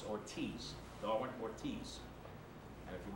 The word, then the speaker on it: Ortiz: Darwin Ortiz he does his name is not pronounced Ortez it's Ortiz Darwin Ortiz and if you've never seen D